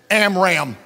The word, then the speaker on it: Amram: They're spelled like this, Jochebed, Amram. But if you pronounce them correctly, it's Jochebed.